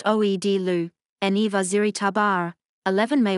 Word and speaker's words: Aghdashloo: 1992 The Playboys Tara Maguire Shohreh Aghdashloo, Persian, pronounced Oed-Lu, Eni Vaziri Tabar, 11 May 1952, is an Iranian and American actress.